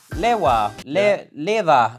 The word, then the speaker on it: LEWA: we're here with liwa Leva Leva it's basically a play on words because liver means live in Sweden so it's and it's a Swedish brand so yeah it's a kind of fun way of pronouncing the other yeah so this brand